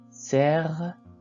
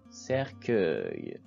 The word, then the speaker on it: cercueil: Cercueil, cercueil. Vous remarquez que le U se place avant le I pour prononcer K, K. Cercueil.